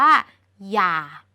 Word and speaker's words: อย่า: อย่าง นี้ แล้ว ก็ คำ ว่า อย่า ที่ เป็น หอ นำ ย แบบ นี้ ทั้ง สอง คำ นี้ เป็น คำ ที่ ออก เสียง เหมือน กัน คือ อย่า เป็น คำ ที่ มี อักษร นำ